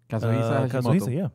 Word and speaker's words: Kazuhisa: Kazuhi, my God, I'm hoping that I'm not mispronouncing, heaven forbid. Kazuhisa? Kazuhisa, yeah.